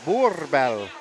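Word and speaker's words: Boerboel: So I'm pronouncing it's Boorbell, like boar.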